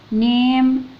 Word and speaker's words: name: الان مع الاي ني ندخل على الام نيم. الاي الاخيره ما بننطقهاش لان في حرفين سايلنت قصدي حرفين متحركين في الكلمه فما بننطقش الاي الاخيره.